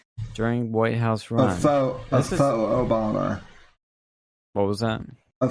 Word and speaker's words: faux: But Michael Cohen says Trump hired a Fox Obama, that's a Fox Obama, so a Fox Obama, during White House run. A faux Obama.